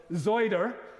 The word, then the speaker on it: cider: And on their visit, I hope they will enjoy a glass of famous Sheppies or Taunton cider, or to pronounce it correctly for Hansard, Zoider, at perhaps the Ring